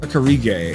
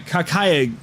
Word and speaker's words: Kakiage: Oh, sorry. Kakiage. There was no R.